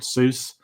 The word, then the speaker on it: Seuss: glad you brought Dr so Dr soy is that how it's pronounced Seuss Su it's it's not